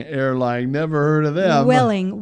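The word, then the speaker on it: Vueling: how about Ving Airline never heard of them Welling Welling Spanish oh it's a v it's v u e l i n yeah it's pronounced well um it's a charter uh company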